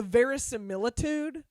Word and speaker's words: verisimilitude: varus various symbol two you gotta take the pause in the middle to slow it down varys and militude and